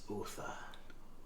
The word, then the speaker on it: Otha: The name is Otha. Spell that right.